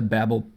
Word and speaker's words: Babel: official tweet from Babel j/s that it is pronounced Babel so I'm gonna be calling a Babel throughout the video and I don't want any